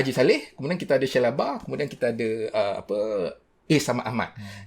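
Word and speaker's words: Shellabear: Diusulkan macam mana nak pronounce dia? Shellebert ke Shellebert? Shellebert.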